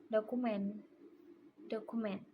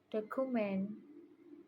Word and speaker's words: document: In my pronunciation, I said document like document, which is incorrect. The mistake is in the vowel sounds and the stress. I pronounce it document, but its correct pronunciation is document.